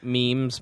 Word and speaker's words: meme: Unless it's John Muer yelling at me about me memes, mess, whatever you call it.